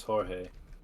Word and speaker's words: Jorge: And mine's Jorge. It's not. I like how we both went with a J name that doesn't start with the J sound.